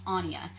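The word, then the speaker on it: Áine: difficult to pronounce but yes her name is pronounced Anja and she is a wonderful Irish goddess of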